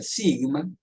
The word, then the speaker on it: sigma: Entonces, se utiliza la letra esta griega, sigma, se escribe así, como ustedes ven, y se pronuncia sigma, ¿cierto?